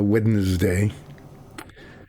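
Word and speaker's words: Wednesday: say it correctly um it's easy to say it incorrectly wday with ND but it's not it's DN so wedes day um but you heard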